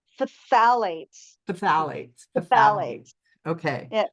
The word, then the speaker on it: phthalates: a P it's um the pH is an F sound so it's phthalates phthalates phthalates okay yeah